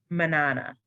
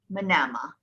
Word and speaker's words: Manama: Manana. Manama.